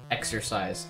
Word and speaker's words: exorcise: Exorcise. Extort... How do you fucking say that? Extort... It's not extort. Exorcise. Wow, that's pronounced pretty much exactly the same way as exercise.